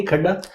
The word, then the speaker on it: खद्दा: Have I pronounce it correctly? खड्डा? खद्दा सर।